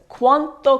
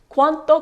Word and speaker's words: quanto: useful Electra COO when you're traveling okay is quanto Costa quanto Costa is how much is it how much